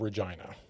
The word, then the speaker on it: Regina: Now, I grew up in the city of Regina, and it is, yes, it is pronounced. I know it rhymes with China.